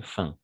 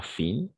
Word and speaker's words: fin: fêtes de fin pas fines fin d'année toujours en français les mots qui finissent en in on va prononcer un d'accord comme chez ma